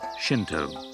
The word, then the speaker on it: Shinto: kami in the japanese language another way of pronouncing where the kami is shinto on a number of key points shinto differs